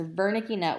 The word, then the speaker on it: Wernicke: Verna Keyes area again that's pronounced Verna kena wernicke but it's Bernie Keyes area just behind our primary